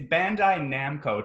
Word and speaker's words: Bandai Namco: It's Bandai Namco, Tom. You just switched some syllables.